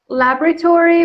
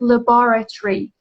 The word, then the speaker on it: laboratory: IVF means in vitro fertilization, process that fertilizes a woman's egg in a laboratory. American is laboratory, but British people pronounce it laboratory. Laboratory.